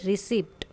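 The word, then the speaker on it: receipt: बी a pronounced as इन bed whistle alarm psychologist now read some words with the silent letter जैसे रिसीप्ट रिसीप्ट होता है यह पी नहीं आएगा debris pneumonia P silent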